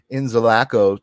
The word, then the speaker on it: Inzalaco: time, I've never actually asked you how to pronounce it. So I've been saying Inzalaco to myself, but then I read it and I was like, no, it's probably Inzalaco.